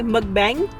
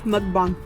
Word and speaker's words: mukbang: pawns a lot of people say it wrong a lot of people say mukbang but it's mukbang there's a Korean word orange bench bank I